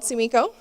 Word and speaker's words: Sumiko: people give me nicknames i prefer to be called tsumiko and i appreciate it